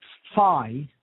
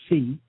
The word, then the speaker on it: Phi: spelled Kappa Epsilon uh Phi which is how it's pronounced many people say fee uh Alpha Lambda Ada